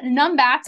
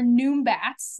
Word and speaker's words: numbat: These guys are called numbats or noombats. They kind of can be pronounced different ways.